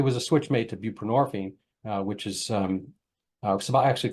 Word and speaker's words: buprenorphine: a switch made to buprenorphine which is um actually called Suboxone that was a combo thing it's um nxone and ponor and borine rhymes with morphine um and is a